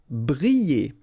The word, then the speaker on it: briller: Briller. Alright, so here, I and then double L, so you get the sound y, y, y.